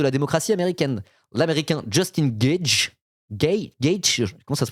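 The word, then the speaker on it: Gaethje: Ça se dit Gagey?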